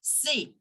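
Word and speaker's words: c'est: not going to change so we will pronounce it as say say c e s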